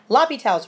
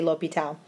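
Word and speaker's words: L'Hôpital: professors pronounced it differently not to be confused with la hospital it is lopital or l'hopital um i usually say l'hopital so looking at this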